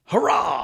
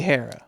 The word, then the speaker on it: Harrah: I think it's Harrah. I actually have no idea how to pronounce Hurrah. Hurrah. Hurrah. It's got to be Harrah. Yeah, I think it's got to be Harrah.